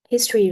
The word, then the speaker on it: history: For example, for example, we have uh for example, we have the his trees history, right? History. So, uh the first syllable is stretch.